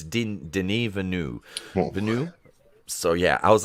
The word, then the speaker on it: Denis Villeneuve: I would have pronounced that Denis Villeneuve.